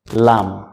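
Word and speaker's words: لام: Number তিন নাম্বারে রেখেছি জিহ্বার আগার কিনারা উপরে দাঁতের মারির সাথে লাগিয়ে লাম।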